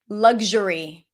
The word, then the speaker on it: luxury: Luxury. Um, you can pronounce it both with a G or a C.